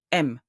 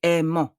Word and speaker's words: aiment: When you read a verb, ENT is not pronounced. It's like it's not here. It remains silent. M. I won't say aimant. I say M.